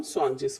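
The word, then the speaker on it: zwanzig: 20 को हम स्वांजिश बोलते हैं इसलिए।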